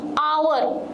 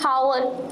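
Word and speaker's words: hour: एन MLA clear Sati आवर एच रू start Aichi but vowel sound Dochi आवर नॉट हावर एच हमें pronounce करो नहीं एच को silent रखो आवर सो एन न्यूला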